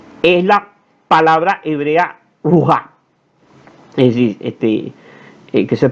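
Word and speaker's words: רוח: capítulo 1 versículo 2 es la palabra hebrea ruja, es decir, que se pronuncia como ruja.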